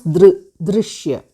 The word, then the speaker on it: दृश्य: In the sense, the halant plus re. So you have to pronounce drishya.